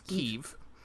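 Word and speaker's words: Kyiv: But I believe the local pronunciation of this of the capital of Ukraine is Keev.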